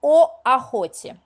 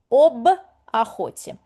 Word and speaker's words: об охоте: Mind you, if the word starts on the vowel, we can't say о охоте. It's hard for us. It's very similar to English an apple. Apple, yeah? Pronunciation-wise, it's quite uncomfortable for us to say it. Therefore, we dilute it with a consonant b. An apple. Об охоте.